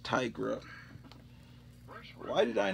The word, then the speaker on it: Tigra: Here's Marvel Chillers featuring Tigra, the Werewoman. As a kid, I thought it was pronounced Tigra, so I've always pronounced it Tigra, but then later on, I realized, I think they meant Tigra.